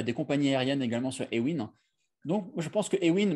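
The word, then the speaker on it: Awin: et dans le monde, je pense actuellement, c'est Ewin. Ewin qui s'écrit A-W-I-N.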